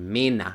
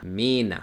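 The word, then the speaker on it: Männer: esta que tenemos acá Cuando tenemos la e r una er al final de una palabra no en medio o al principio sino Al final todo esa toda la er va a pasar a sonar como una por ejemplo la palabra hombres Mena Mena o la palabra viejo alta alta cuando tengo una e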